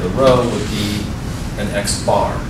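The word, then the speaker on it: x̄: distinction x bar which is the sample view pronounced at x bar that's the sample mean it's calculated by just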